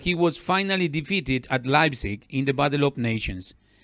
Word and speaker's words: Leipzig: Nations in life sake this is a German name that is why it is pronounced pronounced sorry Leipzig so at the beginning